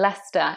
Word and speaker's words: Leicester: Now this is another example of an English word where we have a silent C, just like in Leicester.